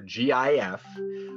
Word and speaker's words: GIF: gif or jiff and i always felt like it was gif you know i thought because of the word graphics par g and song